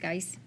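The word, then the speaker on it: Giese: Yes, Michael McKenna was appointed and he resigned, so Steve, I believe it's pronounced Geis, G-I-E-S-E.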